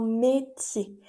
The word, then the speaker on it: métier: Un métier. Acuérdate que la R final no la pronunciamos.